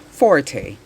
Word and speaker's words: forte: piece quietly or softly number 240 which is pronounced forte is defined as the musical term for loud